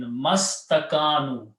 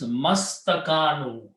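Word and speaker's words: ما استكانوا: meme directly to sin mastakanu. You do not pronounce this alif and this alif. Okay. You leave them written there, except that this changes into Hamzatul Wasl. So it becomes mastakanu.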